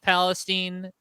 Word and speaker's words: Palestine: East Palestine Ohio uh it is locally pronounced Palestine uh this is like